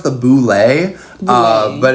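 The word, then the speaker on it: Bulette: have you been drawing we've been drawing the bullet the what the bullet and before the commenters get all into the comments and be like you mispronounced it it's actually pronounced the Boule uh but it's a dumb name and it's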